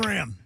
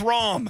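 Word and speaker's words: Rahm: John Ram. It's Ram. Ram.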